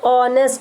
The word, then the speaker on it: honest: Harry is dash honest boy. Honest, that means o. It gives vowel sound, so we put an.